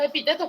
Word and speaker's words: epítetos: Es una esdrújula. Esdrújula. Es una palabra esdrújula. Epítetos, ¿verdad? Entonces lleva tilde.